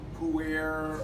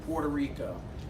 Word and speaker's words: Puerto Rico: that it may be who where or something like that but he knew exactly how to pronounce it Puerto Rico the reason he knew how to pronounce it was because he practiced